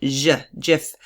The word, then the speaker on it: GIF: record as saying that jiff is pronounced with a soft G jiff this is known this